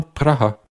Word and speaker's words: Praha: Et oui, c'est bien Praha. En général, la première fois que l'on entend prononcé de cette façon, ça fait quand même un peu bizarre.